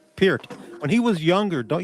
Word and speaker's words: Peart: Like Peart.